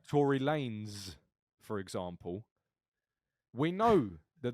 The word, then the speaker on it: Tory Lanez: that word yeah like Tory Lanez for example we know that that is pronounced lens because it's just replaced an S with a z same phonic but adding an extra